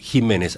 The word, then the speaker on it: Ximénez: Usted eh Jiménez, aclaremos, es con X, es con X, pero se pronuncia J.